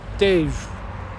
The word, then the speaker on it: Tejo: Rio Tejo. It's pronounced Tejo. T-E-J-O.